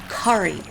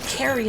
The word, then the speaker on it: Kari: I had one customer years ago that spelled it K-A-R-I and pronounced it Kari, and she's like, finally, somebody got it right. Everyone calls me Carrie and not Kari.